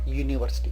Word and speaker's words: university: So when the u at the beginning of a word is spoken as you, we use the article a in front of that, a university.